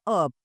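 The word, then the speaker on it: herbs: बट the correct spelling of this is हब। सो, I take lots of हर्ब्स इन माय टी।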